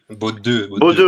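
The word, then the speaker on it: Bodø: Donc, Inter de Milan, Villarreal, Bodo, je sais plus comment on prononce. Bodo Glimt, merci. Beau-deux, ouais, ça dit ouais, effectivement.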